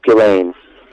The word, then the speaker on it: Ghislaine: I enjoyed reading about Gillian, or is it Jillian? It's Ghislaine. Oh, of course.